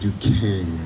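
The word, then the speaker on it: Duquesne: podium that's du qu u s n e pronounced Duan um yeah Duan wouldn't always my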